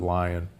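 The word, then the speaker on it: Lyon: humans which was called the lion heart diet or the leone heart diet l-y-o-n but most from leon france but most people pronounce it lion there that diet in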